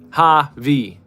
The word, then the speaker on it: Javi: Javi. What else you going to do with that? It sounds like hobby.